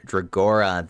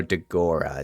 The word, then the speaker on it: Dagora: So next we have Dragora, the Water Warbear. We got a second awakening unit. Oh, Dagora is how you pronounce it.